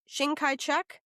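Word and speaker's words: Chiang Kai-shek: Shang Kaiek. Shing Kai rhymes with long tai is what I have written here.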